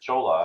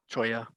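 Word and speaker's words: Cholla: This is south of Chola. I mean, it's Choya. If you're in Arizona, say it right.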